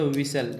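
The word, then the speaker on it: whistle: क्योंकि विसल नहीं पढ़ता, विसल एच साइलेंट रहता है, डब्ल्यू एस से कोई भी शब्द शुरू होता है तो उसमें विसल एच साइलेंट रहता है अक्सर।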